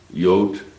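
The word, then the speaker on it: Jood: of david uh and it's spelled j-o-o-d in holland yott and which stands for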